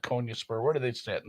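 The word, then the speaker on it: Konyaspor: name it was not konya spur where do they sit in the standings let's take a look rhymes with sport oh they're 18th they've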